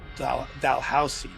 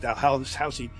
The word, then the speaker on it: Dalhousie: She's in this house in Scotland called Dalhousie. That's how they pronounce it. Dalhousie, built in the 13th century, right?